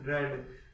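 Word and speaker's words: read: है उसकी third form spelling में तो कोई चेंजेज नहीं होता लेकिन का प्रोनंसिएशन होता है उसमें थोड़ा सा चेंज हो जाता है बाकी स्पेलिंग सेम टू सेम रहती है रेड रीड रेड रेड उसके बाद में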